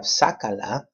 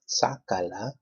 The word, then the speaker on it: sácala: So we have sácala, sácala, 3 syllables. Which one's the third to the last? That A right there, sácala.